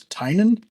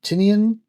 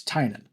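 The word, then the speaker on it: Tynion: It's Tinan. I've heard Tinian, Tanion, Tiny Onion.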